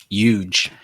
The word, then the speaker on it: UKGE: Huge. Yeah, just ignore the K and you're good. Huge. You sound like Okay, you sound like Donald Trump now. That's who you sound like. This is a huge tournament.